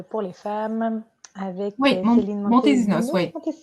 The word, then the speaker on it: Montesinos: les femmes avec Céline Montesinos, oui. On va le prononcer à la française. Montesinos.